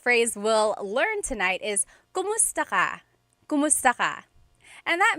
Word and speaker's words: kumusta: If you hear my pronunciation and then other people, when they say it, usually they say kamusta ka? Kamusta ka. So it sounds like it's spelled with a letter A, K-A-M, but technically it's spelled with a K-U-M.